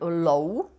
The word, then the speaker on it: ló: Someone speaking in the Great Plain dialect will pronounce it as "lú", While someone else will pronounce it as "lou" or simply as "ló".